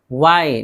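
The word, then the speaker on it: why: वाई, वाई डब्ल्यू एच है, इसमें देखिए एच है नहीं पढ़ेंगे, क्यों।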